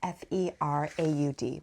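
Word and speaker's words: Féraud: His last name is spelled f e r a u d, but it's pronounced Feraud.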